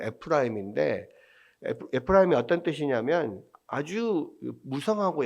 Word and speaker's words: 에프라임: 아들을 아들이 문나세와 에브라임이었는데 에브라힘을 찾아 있는 에브라힘을 오히려 장자로서 축복을 하잖아요. 근데이 에브라임이라고 하는 에프 그니까 원래는 이제 원어적 발음을 에프라임인데 에프라임이 어떤 뜻이냐면 아주 무성하고 열매가 많다는 뜻이에요.